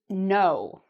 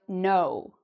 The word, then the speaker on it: know: — in English is "know", "I know". What do you notice about the "k", here? Do we pronounce it? Do we say: "k-now"? No, the "k" is actually silent; we don't pronounce the "k".